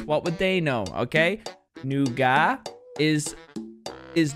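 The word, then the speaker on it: nougat: nugas in in America in Europe we pronounce it noua calm down I know what you're thinking put the pitchforks away we say noua that's how we pronounce it you say n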